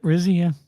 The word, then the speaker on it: Rizzi: Darren Rizzi Yep, Rizzy, yeah.